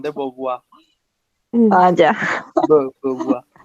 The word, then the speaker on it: Beauvoir: Beauvoir. Pero para pronunciarlo bien se tienen que tapar la nariz, si no, no tienen el acento.